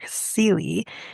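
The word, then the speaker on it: Cilley: Boston TV news producer Homer sely it actually rhymes with silly um produced a television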